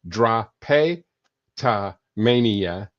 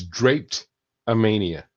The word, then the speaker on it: drapetomania: one drape tomania and the pronunciation is not it looks like dra Mania but it's not it's draped am Mania draped am Mania based